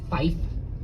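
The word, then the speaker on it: five: Pilots are supposed to pronounce numbers in a really funky way. Like you're supposed to say tree instead of 3. You're supposed to say fife instead of 5. And then 9 is niner.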